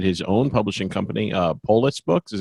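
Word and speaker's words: Polis Books: then he started his own publishing company uh Poulos books is how you pronounce it yeah that's right yeah and he's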